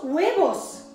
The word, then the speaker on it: huevos: Dos huevos. ¿Cómo la H? A ver, todos queréis. Vamos a ver cómo lo repartimos ahora. Vamos a hacer dos huevos. Que tiene la H, que no se pronuncia en español, que se hace.